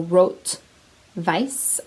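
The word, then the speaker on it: rot weiß: basically red white so wrote vice i believe is how it's pronounced in german i took german in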